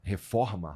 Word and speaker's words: reforma: Because I used to go to Maracanã before it was before there was you know, the reforma. How do you say reforma?